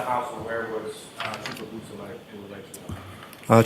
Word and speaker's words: Beausoleil: It's Trooper Jason Bousselet. It's Beausoleil.